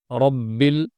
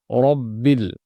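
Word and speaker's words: ربّ: এখানে যেহেতু জবর সেজন্য রটা মোটা হবে। রব্বিল, আমরা চিকন এবং মোটা হরফ পড়ারও পদ্ধতি জানি যে মোটা হরফ পড়ার সময় মুখ উপর নিচ খুলবে, পাশাপাশি আ মুখ ভর্তি হয়ে আওয়াজটা বের হবে। রব্বিল, রব্বিল, এখানে রাব্বিল পড়ার কোনো সুযোগ নেই।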